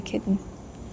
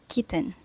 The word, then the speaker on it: kitten: Instead, it's usually completely dropped, resulting in kitten.